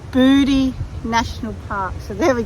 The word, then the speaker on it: Bouddi: to go to now I thought it was pronounced bowy National Park John you thought it was booty